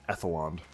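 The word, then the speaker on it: Edhellond: of shako the silent Haven of Edon or edeland well let's read that again silent Haven of ethelon yeah that's how you say it once the ab boat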